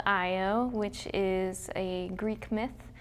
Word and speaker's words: IO: not it may be two letters but it's pronounced IO as in a name it's a name it's